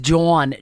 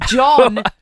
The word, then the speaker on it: Jawn: Now, this guy's name is Jawn. J-A-W-N. Here for it. It's John, phonetically spelt.